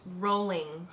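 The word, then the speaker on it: Rowling: like hearing that JK ring is is it rolling or ring it's rolling to her okay so American is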